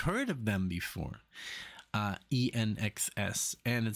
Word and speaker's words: INXS: now it's my first time for the band nxs I know it's pronounced that way because I've heard of them before uh nxs and it says guns on the sky very